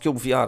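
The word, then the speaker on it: Cyube VR: So, CyubeVR, okay, pronounced CyubeVR, I finally found out, is a virtual reality voxel game fully designed for VR.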